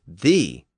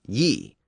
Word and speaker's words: ye: But the first word was always pronounced thee, not ye. The letter Y was just used as a substitute for the thorn.